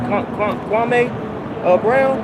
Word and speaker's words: Kwame Brown: Kwame Brown.